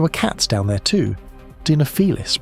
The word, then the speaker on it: Dinofelis: Dinofelis, pronounced Dinofelis.